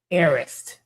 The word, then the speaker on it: Harris: For everybody who's interested, Harris Nail Spa, Harris. Arist. The H is silent, like Hermes.